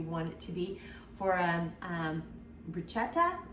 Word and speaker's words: bruschetta: it to be for bruschetta, I think is how it's pronounced. I butchered it. We say a lot in America, we say bruschetta, and that is not the way to pronounce it, but you can